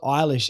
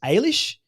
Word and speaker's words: Ailish: It's not Eilish, it's Ailish, whatever it is, Miss Sheeran.